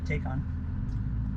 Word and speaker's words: Taycan: Taycan. Or Taycan. It's Taycan.